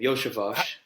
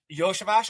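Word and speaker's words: Iosivas: Those guys have that's actually how you say his name, Yoshavash. Yoshavash.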